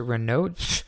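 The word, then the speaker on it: Raynaud: syndrome or Reno syndrome they're saying you pronounce it renod renod syndrome um then it's you're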